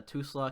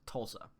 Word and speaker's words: Tulsa: background so you get people that pronounce Tulsa too slow can go off it's pronounced Tulsa anyways moving on to